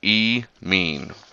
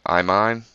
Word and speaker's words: imine: of an amine right it is spelled with an i but you pronounce it as an e so e mean right so here we go I mine so this I mine